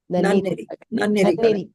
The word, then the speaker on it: Nanneri: Am I pronouncing it right, Vanita? Nanneri.